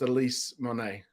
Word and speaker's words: Elyce Monet: not it's it's pronounced Elise Monet um Monet that's that famous artist yes yes um she's